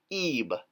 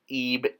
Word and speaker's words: Ib: So interesting here, same as the last word we did, and here, because of the determinative of Ib, you could pronounce it Eb, Eb.